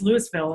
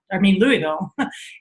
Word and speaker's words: Louisville: When I first moved, I grew up in Ohio, so it was always Louisville. And when I moved out, Louisville, and then I moved out to Colorado, and it's like, I think it's spelled exactly the same.